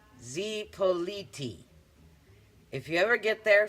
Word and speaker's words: Zipolite: Zippolite is pronounced Zipoliti.